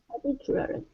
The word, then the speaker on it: particularly: Particularly. Okay, one more time. Get that E sound at the very end. Lee.